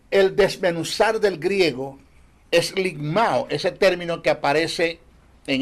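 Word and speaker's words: λικμάω: conflicto el término el desmenuzar del griego es limao ese término que aparece en el pasaje es limao se escribe l I k m a o limao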